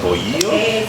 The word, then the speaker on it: bolillo: So Joel's having a mollete, which is basically a piece of it's like Mexican bread, a bolillo.